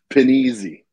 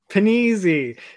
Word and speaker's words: Panizzi: How do you say the captain's name in that? Because it's spelled penis eye. That's what it's spelled as. Panizzi. Panizzi. Yeah, they spelled it that way for a reason.